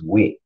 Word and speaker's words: wight: It was wit. So when you look at the WIGHT, you got to know how to pronounce it correctly. That's wit, just like the word witty.